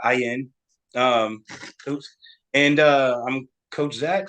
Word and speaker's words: Ayuen: Ayuen.